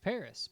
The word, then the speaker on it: Paris: in english it's pronounced paris but everyone else pronounces it without the s sound like the french do but with the vanessa